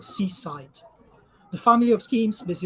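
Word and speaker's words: CSIDH: graph to my right Seaside yes these things has to be pronounced Seaside the family of schemes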